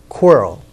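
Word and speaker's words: QRIL: which will we pronounced quirrel which was one of the characters from Harry Potter q r i l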